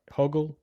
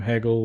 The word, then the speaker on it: Hoggle: like uh in Labyrinth, Hoggle, but David Bowie never calls him Hoggle. He calls him Haggle or Higgle, you know, he always gets his name wrong every time you see him.